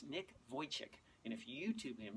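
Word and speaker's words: Vujicic: guy named Nick Wojcik his name it doesn't look like it doesn't spell the way it's pronounced but it's Nick Wojcik in a few YouTube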